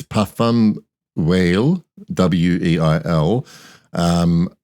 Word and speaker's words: Weil: this brand it's puffum whale w-e-i-l um I just assumed it was a German which I would have pronounced as a veil and but this brand